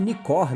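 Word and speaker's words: Nikkor: Nikon 1.8 de leite nicor na verdade né que é como ela é pronunciada e hoje eu vou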